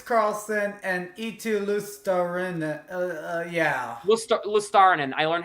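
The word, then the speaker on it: Luostarinen: Lustarin.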